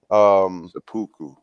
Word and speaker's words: seppuku: Seppuku. Sabuku.